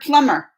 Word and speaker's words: plumber: Ma'am, how do you pronounce the word plumber? Plumber. Because I was watching the English pronunciation video and they said the B was silent.